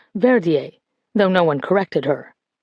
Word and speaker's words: Verdier: Verdier stopped breathing in the ambulance on the way here, the doctor said, pronouncing the name Verdier rather than the French Verier, though no one corrected her.